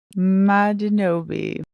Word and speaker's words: Madinobi: And so that name is pronounced Ma D No B. Madinobi.